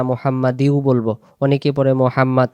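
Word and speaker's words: محمد: যদি আমরা এই জায়গায় আওয়াজটা ছেড়ে দেই। আল্লাহুম্মা সাল্লি আলা মুহাম্মাদ। তাহলে আমরা মুহাম্মদ পড়বো। আর যদি আমরা পরের মোহাম্মদে দম ছেড়ে দেই তাহলে আমাদের বলতে হবে আল্লাহুম্মা সাল্লি আলা মুহাম্মাদি ওয়ালা আলি মুহাম্মাদ।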